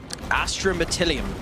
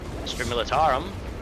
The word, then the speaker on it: Astra Militarum: Astromeatillium. Interesting. Astra Militarum. We will see. Okay. So, I spot you the pronunciation of that.